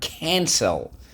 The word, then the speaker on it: cancel: a rule here excellent rule two soft c when followed by y i or e the next word is the word cancel what's the word excellent